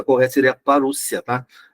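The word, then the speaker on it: parousia: O termo parúcia, tá? E é a forma de você pronunciar, porque quando você tem um ditongo numa palavra grega, tá? Ele tem som de U.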